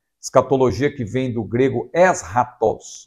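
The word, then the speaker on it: ἔσχατος: que vem do grego es ratos nós falamos escat né mas no grego a pronúncia correta seria esta es ratos que significa último aquilo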